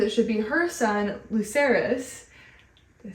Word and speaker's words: Lucerys: Rhaenyra thinks it should be her son, Lucius. Lucerys? Luke. I'm gonna say Lucerys. I like saying full names. Okay. Rhaenyra thinks it should be her son, Lucerys.